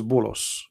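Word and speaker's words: بولس: If you go to the interpretation, you will see that this is Bulos, which is the way of Muslims, they say and pronounce the name of Paul. In Arabic, we call him Paulos.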